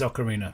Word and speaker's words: Ocarina: know if I do say Ocarina it is Ocarina just just so we're clear it's words have correct pronunciations it's Ocarina at all so we we